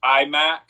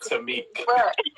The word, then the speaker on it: Taimak: Like it's supposed to be Taimak, but right, but it's called it Taimak.